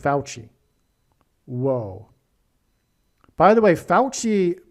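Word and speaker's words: Fauci: His name actually u f au ci which rhymes with vespuchcci by the way. Oh, that's amazing. Vespuchi rhymes with Fouchi.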